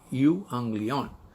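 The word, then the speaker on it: εὐαγγέλιον: Euanglion. That's how you pronounce Greek.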